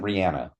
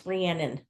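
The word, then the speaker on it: Rhiannon: is job um well this isn't Rihanna no it's ranan ranan okay um Juno which is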